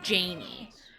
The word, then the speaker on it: Jayne: Her name was Janie. It's spelled Jayne.